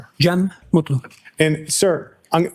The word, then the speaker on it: Cem: Jee Mutlu.